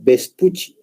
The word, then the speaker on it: Vespucci: que están viendo miren si bien ustedes leen su nombre es Américo vespucio Generalmente su pronunciación es Américo vespucci ya Entonces vamos a